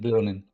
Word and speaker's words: Leonin: Leonin. Leon would be with an I, but it's with an E. Leonin.